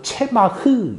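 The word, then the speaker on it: צמח: 히브리어로는 체마흐 이렇게 발음하는 단어인데요.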